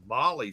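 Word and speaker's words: MOLLE: beauty of it all because since it's a molly system i think that's how you say it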